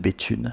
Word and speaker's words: Béthune: us to talk about Béthune. So it's a city if we don't know it, it rhymes with "bitume" this which is not very attractive.